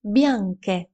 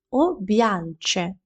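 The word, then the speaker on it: bianche: Білі у жіночому роді бянке. Як бачиш, у цьому прикметнику з'являється літера АК. Якби тут не було цієї літери, тоді прикметник вимовлявся би як б'янчі, об'янче.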